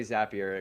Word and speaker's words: Zapier: zapier zapier it's apparently zapier because they they have the whole thing that Lou uh mentioned here zapier rhymes with happier as they say but